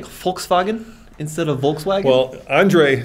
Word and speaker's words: Volkswagen: an f yeah so a w in german a w is a v right so it is volkswagen well i mean where